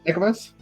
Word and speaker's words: Ekamos: I will say at this point for Ekamos, and how do you pronounce that? Ekamos? Ekamos? Yeah, it's just what you said, Ekamos.